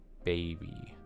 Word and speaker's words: Babebe: This is by an artist named Babe B. Like it's written out Babebe. So if you're saying it slowly, it's like Babe B. But when you're just saying it fast, you just pronounce it baby.